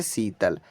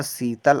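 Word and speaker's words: Sheetal: next है यहां पर S double E टी ए एल पढ़ेंगे हम इसे शीतल ऐ से तो छोटा सा हुआ डबल का मतलब बड़ी की मात्रा टी से तो बच्चा त हुआ ए साइलेंट एल से ला हुआ शीतल अब आप कहेंगे कि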